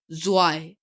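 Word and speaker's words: zwei: is ins ins ins zwe I is 2 and it's pronunciation is why why why d-r-e eye is 3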